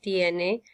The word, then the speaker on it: tiene: So, yo tengo, tú tienes, usted, él, ella tiene, nosotros, nosotras tenemos, ustedes, ellos tienen. Okay, and make sure that you pronounce the E like elephant and the I like E.